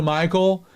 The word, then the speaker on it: Michal: And yes, I said it right. It's Michal.